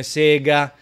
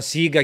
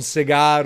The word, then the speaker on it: Sega: konami tranquillamente un po come sega esiga sono storpiature all'italiana siga chiaramente è diventata tale anche